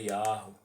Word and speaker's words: Yahweh: Ele fala lá, ó, a pronúncia antiga era Yahweh.